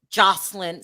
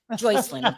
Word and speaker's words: Joycelyn: Kelly getting engaged while he's in jail to Jocelyn Savage. Joycelyn, I said it wrong.